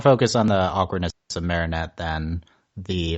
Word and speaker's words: Marinette: on the awkwardness of Marinette than the Apparently I was mispronouncing her name Marette last time at Marette Marinette we have to make sure we say that Marinette um okay yeah so